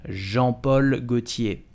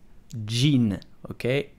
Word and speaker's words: Jean Paul Gaultier: how do you prononce jean paul gaultier et où et simply cei jean paul gaultier jean paul gaultier do not prononce jean hockey its jean jean paul gaultier si